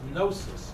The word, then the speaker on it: gnosis: One is gnosis, spelled with a G, G-N-O-S-I-S.